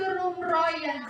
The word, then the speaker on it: Roem Royen: kedua yang ketiga perjanjian Roem Royen dibacanya itu Roem Royen perjanjian Yang keempat yaitu